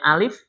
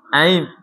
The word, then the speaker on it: alif: Harusnya alif bacanya aif.